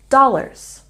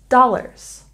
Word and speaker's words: dollars: We put stress on the first syllable in dollars, dollars.